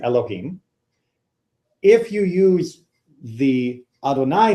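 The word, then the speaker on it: אֲדֹנָי: And that's the Aleph, Dalet, Nun, Yud, which we normally pronounce Adonai.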